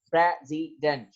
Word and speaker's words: president: the English words प्रेसिडेंट हैज 3 syllable, president, and the first syllable is stress, जो prezi है, prezi जो है वो आपका stress है, and it is on